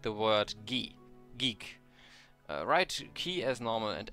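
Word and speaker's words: ゲ: You pronounce this as ge for guest.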